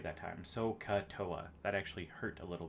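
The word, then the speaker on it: SOHCAHTOA: but just know there is a saying called soca there we go i said it right that time so katoa that actually hurt a little bit uh but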